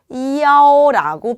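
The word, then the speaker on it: 幺: 숫자 1 같은 경우에 호텔방 호수, 버스 노선, 그리고 연락처를 읽을 때는 이라고 표현하지 않고 야오라고 표현을 합니다.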